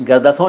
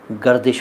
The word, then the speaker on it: गर्दिश: मारे हुए, भैया वो गर्दिश होता है, गर्दिश गर्दसों नहीं होता शायर साहब, रोदिल शायर साहब गर्दिश होता है।